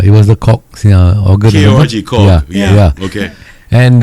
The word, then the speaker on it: Korg: KORG Korg. Yeah. Okay. And Pronounce it properly. Oh, so yeah. cool. Yeah, I got to pronounce it properly. Yes. There's a G at the end.